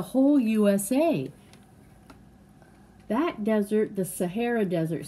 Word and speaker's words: Sahara: That desert, the Sahara Desert, say Sahara. Say Sahara. Sahara. It's almost like saguaro, right?